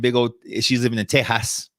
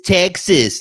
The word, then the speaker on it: Tejas: She's living in Tejas. Yes, I said it right. I was catching myself. It's Texas. No, it's Tejas, actually. Tejas. You lifted up your nose when you said Tejas.